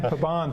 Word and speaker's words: Pabon: Now, and you pronounce it's Pabon, right? Pabon.